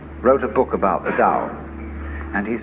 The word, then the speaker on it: Tao: called a dao tao pronounced dao in the mandarin dialect tao in the shanghai dialect told in the cantonese